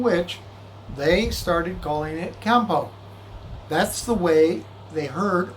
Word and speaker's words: Kempo: native speakers in okinawa they kind of close their lips when they're saying it and as a result the n comes out as an m so he would say